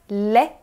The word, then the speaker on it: lait: Pronuncie você também lait. Apesar da escrita ser até parecida com a do português, a pronúncia é bem diferente. Esse AI tem som de E e não podemos pronunciar esse T no final, porque a regra diz